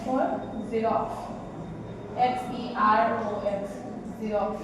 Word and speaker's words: Xerox: इसके बाद होगा X for Xerox, XEROX, Xerox। इसको लिखेंगे X से, लेकिन इसको जब प्रोनाउंस करेंगे उसको बोलेंगे Xerox, ठीक है।